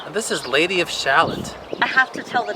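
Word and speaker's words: Shalott: days quoting Lady of Shallot. and so I really wanted to get this. It's beautiful, but also because of Anne. So It's pronounced Shallot. she says Shallot.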